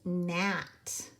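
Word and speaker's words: gnat: 13 the word is NAT now both GN & KN say mmm which one are we going to use yes the GN because that is our pick your clue is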